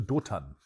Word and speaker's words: Dothan: I think they went towards, I think Toga was the name. Let me look it up. So say it right. They went to Dothan.